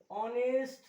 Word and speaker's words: honest: avoid confusion or hair honest person it is an honest person not honest it is not honest it is honest so in honest personal